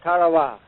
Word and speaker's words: Tarawa: island in the mid-pacific called karawa that pronunciation incidentally is from the National Geographic Society that Island will never